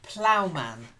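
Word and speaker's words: ploughman: then Constantine first word plow man it says silent g a silent h Plowman blowman that's it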